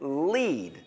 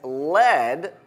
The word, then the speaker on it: lead: we learned a trick lead sounds like meat and when you lead people you meet them so that's one way